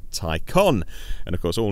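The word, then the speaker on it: Taycan: name it's called the tie con tie as in necktie con as in con artist it's spelt a can it's pronounced tie con and of course all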